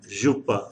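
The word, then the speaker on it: jupe: again same ja and jupa jupa in french and the ja sound is same as the sound that is that comes out for measure measure as compared to k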